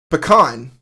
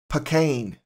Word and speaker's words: pecan: PA pecan so uh every one of those pronunciations puts an emphasis on the second syllable so if you're in